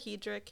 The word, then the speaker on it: Hedrick: No, a lot of Hedrick, Hendrix. So do you just take it in stride when someone says Hedricks or whatever?